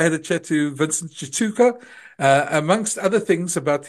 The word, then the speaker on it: Tshituka: former Ballroom dancer uh his name is Vincent Chuka did I pronounce it right Vince he actually did that's